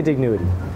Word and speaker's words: Dignowity: We say Dig-NOW-ity. That's what we've just been told, you know, from the locals around here.